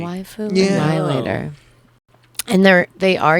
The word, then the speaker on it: waifu: It's kind of Waifu like what? saying it's basically Annihilator. I don't know realize basically that that's how you Oh. pronounce it. it's the Japanese version of wifey, basically. Waifu Yeah.